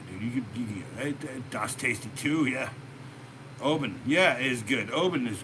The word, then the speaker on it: Oban: Not Obin, Oban, Oban, Oban.